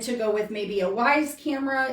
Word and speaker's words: Wyze: A lot of people also tend to go with maybe a Wyze camera. It's spelled W-Y-Z-E.